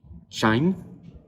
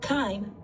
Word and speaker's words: chyme: in digestion, kill bacteria, and turn food into chyme, which is passed through the small intestine. So, how do you say that? Chyme.